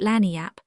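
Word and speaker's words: lagniappe: limber, expressive, handy word, lagnap. They pronounce it Lanniap. It is Spanish, so they said.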